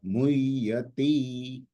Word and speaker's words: मुह्यति: ती छोटा है, मुह्यति, है ना।